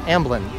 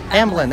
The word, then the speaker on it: Amblin: Oh, someone said Amlin. Amblin. There we go. I just can't pronounce it.